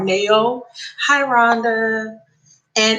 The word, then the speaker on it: Nao: her name her name her artist name is anna like nancy a like apple oh now i pronounce it now or neo hi ronda and it's